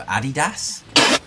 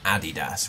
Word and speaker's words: Adidas: It's Nike and Adidas, right? Right. We don't say Nike and Adidas.